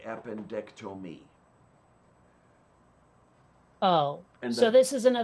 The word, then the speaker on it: appendectomy: well, how do you pronounce I mean, how does one pronounce appendectomy? Appendectomy. But it sounded like you were saying appendectomy. Yeah, Like you said tome instead of Tom.